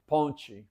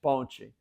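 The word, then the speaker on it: ponte: so like uh bridge ponchi ponchi p o n t e ponchi they pronounce the t kind of like a ch ponchi and so they that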